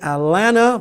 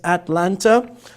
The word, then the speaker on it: Atlanta: And at, as in Atlanta, or as some Americans say, Atlanta, but here it's Atlanta.